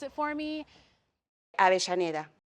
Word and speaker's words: Avellaneda: Remember in Argentina, the double L is a sh sound. And I've asked a couple locals to pronounce it for me. Avellaneda. Avellaneda.